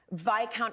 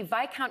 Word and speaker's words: Viscount: card, and it said Viscount Hinchinbrook, but if you can see, Viscount is spelled with an S, and I thought it rhymed with discount, so I said, why does your credit card say Viscount Hinchinbrook?